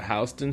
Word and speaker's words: Houston Street: it's over for me were you the person arguing that it wasn't pronounced houseon Street yeah it was me at first I was like oh we on Houston a or whatever and they